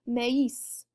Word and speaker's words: maïs: So in our example word here, if we did not have the tréma, it would just be pronounced me. It'd be one syllable and that would be it. But in this case, because we've got a tréma in there, it's now going to be maïs, right?